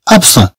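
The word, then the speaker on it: absent: نقول الي ابسون، الي ابسون. ابسون، ابسون يعني غائب، ابسون. طبعا كما تشوفون هنا الطي ما تتنطقش، هي جات في الاخر ديال الكلمه ابسون.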